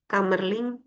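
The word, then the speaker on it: Kamerlingh: He eh kamerling gitu bacanya. Ini enggak ada a-nya nih.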